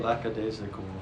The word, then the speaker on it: lackadaisical: Lackadaisical. Daisical. It's like Lackadaisy.